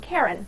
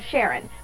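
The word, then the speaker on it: Charon: with its largest moon Karen or Sharon both pronunciations are correct for the time being we know that Pluto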